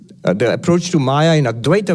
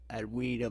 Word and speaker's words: Advaita: I guess it's pronounced with a W. Advaita Vedanta.